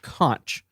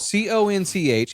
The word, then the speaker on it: conch: first first things first the pronunciation is not conch it is spelled c-o-n-c-h it is pronounced conch k-o-n to pronounce however